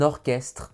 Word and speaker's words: orchestre: Quant au ch, ch, il n'existe que peu de mots dans la langue française dans lesquels il est prononcé que, comme par exemple le chœur d'une église ou encore un orchestre symphonique.